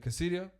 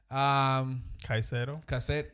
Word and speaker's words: Caicedo: Enzo Fernandez, right next to Casidio. Caicedo.